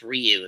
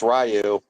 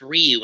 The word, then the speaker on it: Ryu: It's pronounced Ryu. If you It's Rayu. No, it's actually pronounced Ryu in both cut in both ducks.